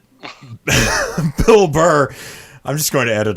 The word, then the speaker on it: Bill Burr: he's just kicking sideways i also think it's pronounced bill burr you're right bill barr is the attorney general who uh kind